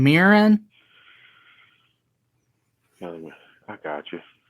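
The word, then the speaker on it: Mirren: Helen how do you say her last name mirin I got you it's one of those yellow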